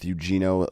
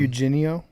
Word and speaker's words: Eugenio: Not even close to how you say his name. Uh how do you pronounce it, Brandon? Eugenio. Auinio. Okay, that was way off. a Huenio Suarez.